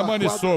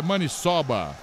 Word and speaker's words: maniçoba: E não é Maniçoba, quadra... viu, Ladeira? A pronúncia certa é Maniçoba.